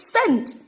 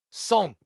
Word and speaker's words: cent: It's scent." Because of obviously how it's spelled. I didn't know how to actually pronounce it at that time. My head teacher turned around and said, "No, that's completely wrong." Anybody else? Anybody else? It's son.